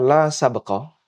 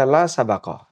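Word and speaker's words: لا سبق: Sin baqaf yang tadi kita sebutkan ada 2 cara baca. Bisa dibaca la sabaqah, bisa dibaca la sabaqah. Jadi baknya ada 2 cara baca, bisa dibaca sukun, bisa dibaca fathah.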